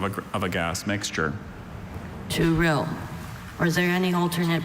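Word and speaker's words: touril: Turil. Or is there any alternate pronunciations?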